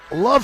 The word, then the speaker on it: LOVB: Introducing Love Houston, L-O-V-B Houston, and the B is silent.